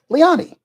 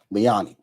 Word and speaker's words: Liani: No, I did not say it right. It is pronounced Lee Liani, right? Liani. Okay. Let me. Okay. Liani. My apologies for butchering your name.